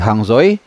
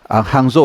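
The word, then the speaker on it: Hangzhou: 2 tahun lalu ya Di hangzoi hangzo ya bacanya hangzo hangzo gua catat setidaknya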